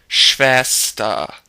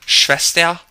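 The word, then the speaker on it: Schwester: the end of words when the r is at the end of a word followed or preceded by an e it's just pronounced like ah so for example the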